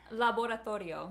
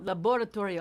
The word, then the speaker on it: laboratorio: but is it called laboratorio it is yes that was awesome awesome how would you say it laboratory laboratorio laboratorio i don't want to